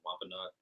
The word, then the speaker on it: Wampanoag: So when the Edomites came in here and got the tribe of the Wampanoag, or how do you say that? Yeah, you said it right first time. Wampanoag.